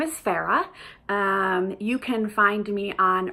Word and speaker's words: Farrah: I always think I need to spell out my first name, otherwise people think I'm saying Sarah.